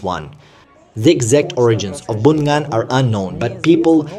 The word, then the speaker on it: bún ngan: Bún ngan. It's called bún ngan. Bunyan, not Bunyan.